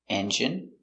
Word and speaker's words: engine: Words ending in ine can have different pronunciations. All of these have the sound in. Imagine, examine, engine, discipline, feminine, and masculine.